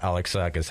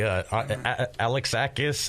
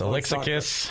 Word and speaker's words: Alexakis: good man really good now that you pronounce my name right everybody that doesn't happen very often I'm so happy alexakis Alexus Alexus no yeah alexakis I know this yeah but people people butcher it but you know what